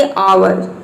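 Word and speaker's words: hour: silent है इस तरह से यहां पे देखिए अवर और इन सभी में क्या है हा साइलेंट है लेकिन यही पे आप देखिए दूसरी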